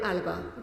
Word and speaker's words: Alaba: Alaba. Did I pronounce that correctly? Alaba, Madam Chair.